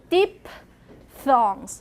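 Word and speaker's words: diphthong: it a dip thong and the pronunciation is deep thongs now do it deep thong uh so so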